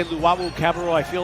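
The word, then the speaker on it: Cabarrot: say his name because his name is not cabaret and that's not a cabernet it's not cabaret or cabernet and the rebound will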